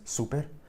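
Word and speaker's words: супер: Of course, the R pronunciation is a little bit different. Perhaps you heard that. In Serbian, it's super. And English, it's super with a hard R, the classic English R.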